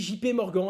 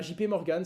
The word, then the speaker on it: JP Morgan: c'était un peu gênant on dit jp morgan et pas chiper morgan sachez le les français tiennent à leur prononciation avant de zoomer sur